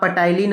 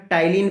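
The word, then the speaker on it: ptyalin: इसको आप पटाइलिन मत पढ़िएगा, टाइलिन पढ़ा जाता है, पी साइलेंट होता है।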